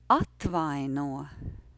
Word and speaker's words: atvaino: and that word is atvaino. Atvaino. Atvaino. The rhythm is yes, no, no.